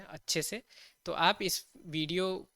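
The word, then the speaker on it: zeta: कहते हैं इका इका सेट को हम कैसे प्रोनाउंस करते हैं सेता सेता या थेता थेता पर जनरली सेता ही यूज होती है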